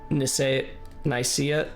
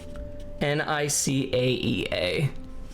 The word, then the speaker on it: Nicaea: Nicaea pronunciations I've heard vary from how you did it to basically IKEA, well, like the way I just said it. It was spelled differently here, though, wasn't it? Nicaea.